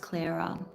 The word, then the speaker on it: Clara: Is it Claraara or Cuz I have a friend called Clara and they spell it like that, but it's it's pronounced Clara.